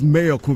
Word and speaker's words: Mayorkun: Because it only makes sense that it's Mayorkun because that's the mayor. Yeah, exactly. Makes sense because I don't think you're pronouncing mayor like the mayor of the town.